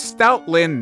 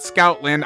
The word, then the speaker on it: Stoutland: also I do know his name is Stout Lin not Scout Lin I mispronounced his name